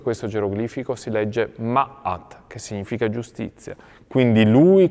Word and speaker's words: Ma'at: E Osiride poggia i piedi su una pedana e la pedana stessa ha la forma di un geroglifico e questo geroglifico si legge Ma'at, che significa giustizia.